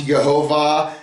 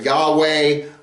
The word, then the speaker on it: Yahweh: And that word that name Yu vave which some pronounce Yhovah some pronounced uh Yahweh not sure how it's pronounced and well but that's